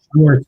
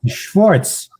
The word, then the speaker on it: Schwartz: It's not Schwartz. The Schwartz. The Schwartz. The Schwartz. You got to pronounce these things like Mel Brooks would pronounce them.